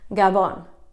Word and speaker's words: gabon: stick with me because to say good night is a lot easier Gabon Gabon just five letters Gabon if you want